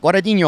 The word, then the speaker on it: Guadagnino: Colette Guadagnino off the bottom.